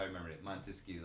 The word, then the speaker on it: Montesquieu: Montesquieu, like the 3 syllables.